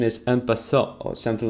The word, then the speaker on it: en passant: En passant, you don't say the T at the end. A bunch of Englishmen. Well, actually, as far as I understand, the correct pronunciation is en passant or something like this.